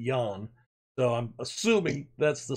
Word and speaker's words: Jan: And Jan Gomez, I know it says, looks like Ian, but there's a Jan Poveda who is South American playing for Leeds, and he pronounces it Jan.